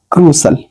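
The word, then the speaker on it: crucial: है इसमें भी है सही आप समझ लेना क्रूशल सही है ठीक है इसको ये इसलिए दे रहे हैं जो आप प्रोनाउंस करते हैं वो दे रखे हैं इसमें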